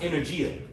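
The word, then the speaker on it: ἐνέργεια: When you bring this word working out in the Greek, the word is pronounced energia for energy.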